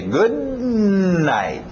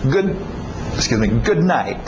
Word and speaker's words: good night: O D e o N não vão bater muito bem, vão chocar. Então engole esse D. Good night. E o T no final também. Good night.